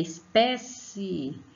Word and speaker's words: espécie: É espécie, é espécie. Lembre que é como se estivesse chamando alguém. Então, pé é a sílaba tônica, a sílaba mais forte.